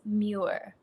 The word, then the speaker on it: Muir: get it wrong okay it's pronounced mure M welcome to